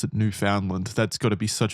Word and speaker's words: Newfoundland: It was located 12,500 feet deep in the ocean and around 600 kilometers southeast off of Newfoundland. I think that's how you pronounce it.